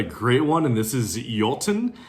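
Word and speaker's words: Iotunn: Next up, we've got a great one, and this is Jolten. I'm pretty sure that's how it's pronounced, despite the alternate spelling with the I and the O at the beginning.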